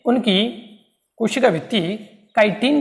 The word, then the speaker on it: chitin: देखो अंग्रेजी देखो इसकी भैया, इसकी अंग्रेजी क्या है, ये है CHITIN, ये क्या है, काइटिन, ठीक है। हम क्या सोचते हैं किसी स्पेलिंग शुरू हो जाएगी, लेकिन ऐसा हर बार जरूरी नहीं होता।